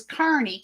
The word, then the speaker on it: Kearney: how it's pronounced as Kearney kind of like c-a-r-n-e-y would sound I do appreciate it